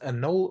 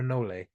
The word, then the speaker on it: anole: wow that's pretty good I never remember if it's pronounced anol or anoli I've heard people go with both I tend to go go with a null um yeah I tend